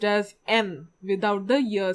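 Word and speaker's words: 円: The third one is the Japanese currency yen, but in Japanese it is pronounced as N without the year sound. So N.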